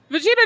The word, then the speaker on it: Vegeta: your your cursing in the background or swearing Vegeta doesn't typically swear but he has a lot